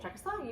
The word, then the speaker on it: Czechoslovakia: Czechoslovakia, you got it.